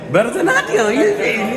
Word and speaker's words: Bharatanatyam: Bharatanatyam. Yeah, pronunciation is good.